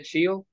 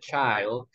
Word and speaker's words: child: letter is pronounced I we don't say chill we say child and a affordable we